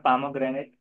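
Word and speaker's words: pomegranate: अगर देखा जाए अमेरिकन, तो अमेरिकन में पामोग्रेनेट ऐसे कहेंगे पामोग्रेनेट, और इंडियन में भी पामोग्रेनेट ऐसे कहते हैं, पा लग जाता है। और जब ब्रिटिश प्रोनाउंसिएशन देखते हैं तो पोमीग्रेनेट, तो डायरेक्टली जो कि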